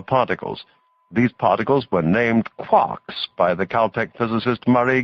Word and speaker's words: quark: instead of a t it is usually pronounced to rhyme with luck there are a number